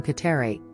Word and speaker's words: Kateri: At the age of 20, Tekakwitha was baptized and took the name Kateri, a Mohawk pronunciation of the name Catherine, after Saint Catherine of Siena.